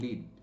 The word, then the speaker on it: lead: তখন কিন্তু উচ্চারণ হচ্ছে LED, অর্থাৎ আবার বলছি এটা স্পেলিং নয়, এটা প্রোনাউন্সিয়েশন, লিড। কিন্তু দেখো যখন লেড একটা কেমিক্যাল এলিমেন্টকে বোঝায় তখন কিন্তু আমরা উচ্চারণ লিড বলি না, তখন বলি লেড।